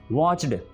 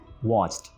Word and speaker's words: watched: बाज़ औक़ात ये होता है कि watched को watched यानी डी का एक बड़ा सारा साउंड प्रोड्यूस किया जाता है, बोला जाता है, जो कि गलत है। इसकी बड़ी खूबसूरत प्रोनाउंसिएशन है watched, यानी ईडी की जगह पर आप समझें कि टी लिखा हुआ है, टी।